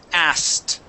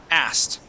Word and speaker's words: asked: as good yes so we're going to skip over that k sound and go right to the T asked asked as as good good